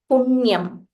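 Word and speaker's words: पुण्यम्: So here he says, Aditya Hrudayam Punyam. This is na, but it is half na. Punyam.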